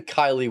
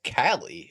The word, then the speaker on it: Cali: So Zanime and it's not even it's not even Kylie with a K. It's Cali as we clearly see that attorney say it's Cali. It's spelled like Cali like California.